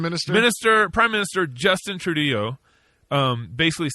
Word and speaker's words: Trudeau: Canadian unb Prime Minister Minister prime minister Justin trudo um basically said he said it's with deep sorrow I think it's Trudeau trau let him have his day give me give me my American pronunciation please it's okay that's a Texan hooked